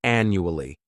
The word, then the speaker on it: annually: This word has 4 syllables, and the stress is on that first syllable. The second syllable, it's like you're just saying that letter U, And the third syllable has that schwa, annually, annually.